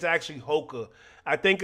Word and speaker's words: Hoka: I I think it's Hoka man I think it's Hoka if I'm not mistaken right hookah is like something else you know what I